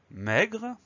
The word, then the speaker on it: maigre: Dans le mot maigre, la seule difficulté, c'est le son est de la première syllabe. Donc cette première syllabe, elle s'écrit M-A-I. Mais, M-A-I. Ensuite, la deuxième syllabe, c'est comme ça se prononce, gre, G-R-E. Maigre, M-A-I-G-R-E.